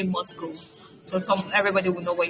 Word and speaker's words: MoSCoW: I'm sorry, it's pronounced Moscow. As you can see in the bracket here, beside MSCW. It's pronounced Moscow.